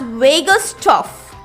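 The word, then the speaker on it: Vagusstoff: he labeled this chemical in his experiment as vegas tough v-a-g-u-s-t-o-double f hope you got the whole spelling and the pronunciation now why did he label it as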